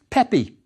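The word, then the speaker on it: Pepi: in coues and the other looks like this pronounced yes Pepe he was Pepe the first there's another king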